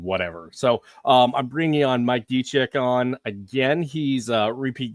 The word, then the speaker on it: Dzicek: So Polish, it's pronounced Dzicek. So the DZ makes a G noise, the C makes a TZ noise.